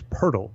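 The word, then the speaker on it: Pöltl: demar derozan and Jakob I can't believe that is how you say it is Pirtle like I could act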